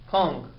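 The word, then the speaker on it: Küng: And so I have here a book in my hand by Hans, I believe it's Kuhn. If I mispronounce it, I'm sorry about that. Kung. I'm not good with these words. Hans Kung. Is that right?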